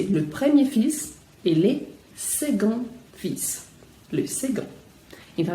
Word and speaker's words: second: Então a gente escreve second com C, mas com som de G, second, e seconde. Também aqui é o feminino, então não é o E que você está pronunciando no final, é o D, seconde. O C, novamente, com som de G, mas o D é bem pronunciado no feminino, enquanto que no masculino não é.